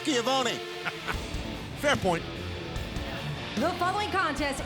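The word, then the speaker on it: Schiavone: action time shiva ah shavani whatever your real name is giovanni chavoni like jericho would say featuring 2.0 you son of a gun well being from new york you should know it's pronounced skiavoni fair point the following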